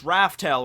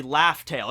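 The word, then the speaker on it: Laugh Tale: And we found out from Stampede, Raftail is not actually pronounced as Raftail or written. It's actually Laugh-tail. It's pronounced the same way because L's and R's in Japanese.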